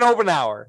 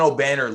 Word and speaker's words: Obanor: How do you pronounce that? Obanor. Kevin Obenauer. No, Kevin Obanor.